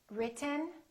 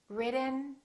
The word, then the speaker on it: written: sound of american english i'm going to say one word three different ways and i want you to ask yourself which one sounds like an american accent listen carefully written written written button button button forgotten